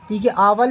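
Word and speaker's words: hour: इज a European और एक आवर का भी आता है आवर लिख देंगे और ओनर लिख देंगे ठीक साइलेंट होगा उसमें तो ऐसे आवर और ओनर में हमेशा एन आता है ध्यान रखना आवर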